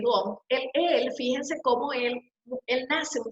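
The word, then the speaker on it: Wundt: Yo lo pronuncio tal cual, Gunn, que es Gunn, fíjense cómo él nace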